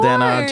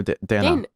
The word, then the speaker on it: Danny: mention me like daniel dana podcast jen me with daniel david wait did i just say your name wrong no danny not dana dana dana yeah a lot